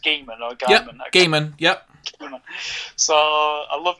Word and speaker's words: Gaiman: Is it pronounced Gaiman or Gaiman? Yep, Gaiman.